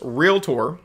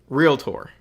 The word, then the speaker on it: realtor: It is in fact pronounced realtor. Okay, sometimes us Southerners, we put extra syllables where they don't belong.